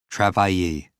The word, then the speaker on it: travailler: Travailler, which sounds like traveler to me, means to work.